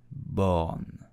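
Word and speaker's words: Borne: bit burner it is a bit burn T born Elizabeth born I hope you enjoyed this video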